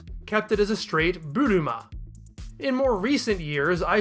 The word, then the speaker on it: Buruma: Japanese spellings of Boomers extend the final vowel sound so that it reads buruma a long ah sound at the end of the word is often used as a substitute for our ending ER which you can see